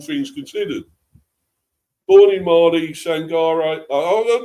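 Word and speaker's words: Sangaré: That's that's how you pronounce it, Manny. Sangar. It's not Sangare, it's Sangar, his name.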